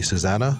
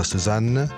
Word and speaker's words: Susanne: Uh, I'll try to pronounce it like Andy Susanna. No, Suzan.